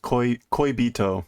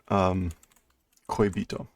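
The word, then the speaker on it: 恋人: So both of those characters have multiple different pronunciations, but when they're in this combination, in this order, it's almost always koibito.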